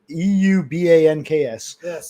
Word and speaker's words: Eubanks: Eubs Euban KS pronounced Eubanks.